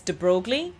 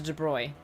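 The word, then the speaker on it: de Broglie: So in English looking at his name you would think it's De Brogley. So but because he's French it's uh De Bruy I think clo Well again I'm speaking with an accent. Um it's closer to De Bruy.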